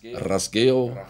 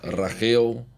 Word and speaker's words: rasgueado: In Andalus, the Andalusian dialect, or in Flamenco jargon, rasgueado is pronounced rasgueo, rajeo, or rajeao.